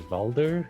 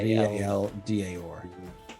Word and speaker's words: Valdar: Did you say his name was Valder? Valda, Like V-A-L-D-A-R. Valdar, okay. You see one of the guys goes to pick it up.